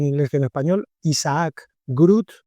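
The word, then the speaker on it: GR00T: que en español, Isaac Grut. Grut escrito gr, o sea, los ceros en número como si fueran os y por lo tanto se lee group y para terminar n1,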